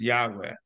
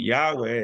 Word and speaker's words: Yahweh: is interesting thing about Yahweh is that it's all vowels in English it sounds like a V sounds like a but in Hebrew the V is pronounced kind of like a w UD hey W hey